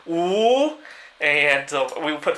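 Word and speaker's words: 五: In Chinese, the number 5 is pronounced "wu," and we would put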